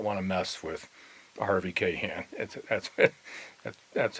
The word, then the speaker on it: Kahn: you did not want to mess with Harvey Kahn. That's how we pronounced their name back there.